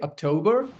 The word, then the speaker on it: October: So almost all the all the you know the the last three months of the year. September four months. October, November, December. The stress lies on the second syllable.